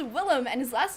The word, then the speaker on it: Willem: It's Willem, and his last name is technically Defoe, but he's used to people pronouncing it Defoe.